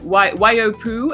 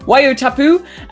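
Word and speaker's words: Waiotapu: so-called career curry whale park and probably not pronounced right either and there's also the white why Oh poo and I've forgotten all the names where your taboo wai-o-tapu okay guys it's a 24 a.m.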